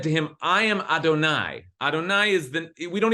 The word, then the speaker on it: Adonai: it in our prayers we pronounce it Adonai which is just a way of saying my my master but we don't actually ever say the name it's so holy okay so that's it